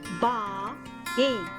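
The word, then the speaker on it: बाएं: For left direction in Hindi, we say baएं. We pronounce it ba-ain.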